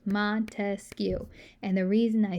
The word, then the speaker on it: Montesquieu: i like to remember montesquieu because his last name is three syllables if you go all the way back to where you used to clap out your syllables in uh in elementary school montesquiou has three syllables montesquieu and the reason